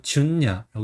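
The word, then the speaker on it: 純也: 그다음에 순서는 이제 준. 그다음에 마지막 한자는 이기야입니다. 그래서 이거는 야라고 보통 읽어요. 인명에서는. 그래서 준냐라고 이렇게 있습니다.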